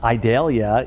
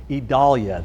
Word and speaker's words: Idalia: talking all about tropical storm idalia it's not idalia it is I now you got me all mixed up idolia that's how it's actually pronounced believe it or